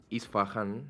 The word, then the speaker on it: Isfahan: iraní más precisamente la provincia de isfahan isfahan así se pronuncia en la zona centro